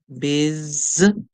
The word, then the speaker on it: busy: B in this word it is not pronounced as it looks so the U here is actually carrying a short eye sound so we hear B is Biz and then we hear the Y at the end making a song like